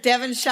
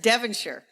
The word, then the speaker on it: Devonshire: current Duke of devenshire notice how I pronounce that British way instead of the American instead of Devonshire I said devire you did it right